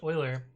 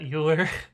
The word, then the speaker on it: Euler: Have you tried Project Euler? I've done a few of them. Don't you dare pronounce that Euler. No, it's Euler.